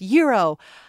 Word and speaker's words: gyro: be like it's pronounced Euro I usually say Euro I'm saying gyro because that's how they say it in the episode that's all all right